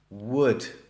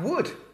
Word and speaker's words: would: And then we have wood. Not an easy word for Spanish speakers to pronounce, would. I would like to go to the beach today. But then we also have would, the same pronunciation.